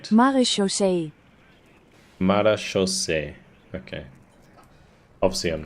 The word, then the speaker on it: Marechaussee: Marechaussee. Marechaussee. Okay. Obviously, I'm not pronouncing that correctly at all, and neither is the bot.